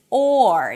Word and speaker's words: or: The proper pronunciation is or. You have a nice long open sound and only at the end you bring the tongue up for the r or or.